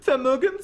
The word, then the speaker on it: Vermögen: For some reason, they pronounce the W's with a V sound, like in the word Welt, and they pronounce the V's with an F sound, like in the word Vermögen zu Ordnungszuständigkeit zu Betragungsverordnung.